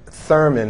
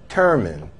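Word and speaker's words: Turman: High School as Eric Thurman, and the correct pronunciation of his name is Eric Terman. So, Mr. Terman, I apologize for putting the TH sound in your name.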